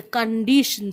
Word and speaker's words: condition: She couldn't eat one bit because she was very sad to see the condition. CONDITION. Break it into 3 syllables. Condition. I've always told you TION is shun.